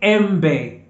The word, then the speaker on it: embe: as a okay e so e is pronounced as a a so the example here is embe so embe in Swahili in English means mango the mango fruit okay so say embe embe embe okay and